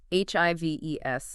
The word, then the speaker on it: HIVE: It's HIV, like beehives.